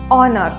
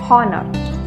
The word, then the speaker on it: honor: is a little tricky honor now honor starts with an h but it's not like all words starting with an edge because this h is silent we say honor not horner so if there is